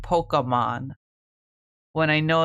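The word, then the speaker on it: Pokémon: Pokemon. It's Pokemon. It's not poke. It's pock like pocket.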